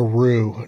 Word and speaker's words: roux: covered what is a roux now rue is spelled r-o-u-x but yeah there's companies